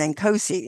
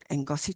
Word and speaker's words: Ngozi: others, it's like, okay, because I was going Nkosi in the beginning. It's because that's what it looks like for me. But now Ngozi talk shows, it just rolls off the tongue.